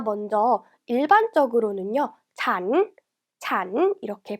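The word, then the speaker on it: ฉัน: 자, 먼저 일반적으로는요, 잔 이렇게 발음해요.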